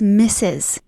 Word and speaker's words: Mrs: Miserous. Miserous. It's Mrs. Miserous. Anyway. MR. No. Miserous. And then Miss is MS or MISS. No. MRS means Mrs. I am Mrs. My mother is Mrs.